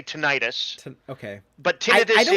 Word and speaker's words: tinnitus: You say tinnitus, but I think the instinct is to say tinnitus.